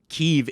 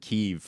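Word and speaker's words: Kyiv: they have that argument keeve is the ukrainian name that's why we call it kiev like since the fall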